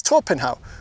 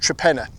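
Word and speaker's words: Torpenhow: it, you'd say, "Well, this is Torpenhau." But it's not. It's pronounced Trapena.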